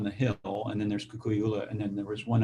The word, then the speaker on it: Kukui'ula: I mean, I have to say, listening to you, your property in you pronounce it Kukui'ula, or how do you pronounce it? Kukui'ula.